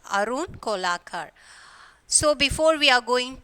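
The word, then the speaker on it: Kolatkar: So the T is silent. Arun Kolakar.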